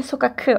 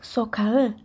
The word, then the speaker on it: sokağı: G in Turkish so nobody will say sokaku okay it will soften into sub G which will be souca souca the street so joke Hajduk to